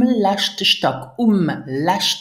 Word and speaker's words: letzte: So, mein Appartement ist groß, that you understand, et ist um letzte Stock, pronounce it letzte, um letzte Stock, on the last floor, me et ist ziemlich ungemütlich, ziemlich ungemütlich, it's quite uncomfortable.